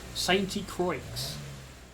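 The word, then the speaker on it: Sainte-Croix: It's not called Saint Croix, or however you say it in French, in a French accent. Saint Croix.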